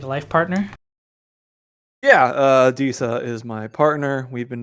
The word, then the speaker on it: Adisa: to ask this if Disa, is that just say her name was? Disa. Okay, yeah. Disa. Yeah. Nadisa? Disa. Disa? Like Adisa? A-D-I-S. Yeah, like Adidas without the second D. Okay, so Adisa.